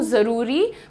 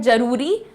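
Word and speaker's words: ज़रूरी: तभी देखिए मैं कहती हूं जरूरी। बहुत सारे लोग कहते हैं जरूरी। तो there is a difference in this also ज ज़ please notice the differences and work on it time से।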